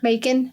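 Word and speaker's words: Macon: on November 16th 2018 maon I believe is how you say it or ma maon Georgia Sheriff's announced Mon Mon Georgia makon well that sounds weird but I guess it's like bacon that's how they say it I didn't know what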